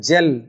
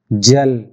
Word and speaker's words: gel: Gait, gap, these are the same pronunciation, but gel, this is a different ja sound. So right answer is gel.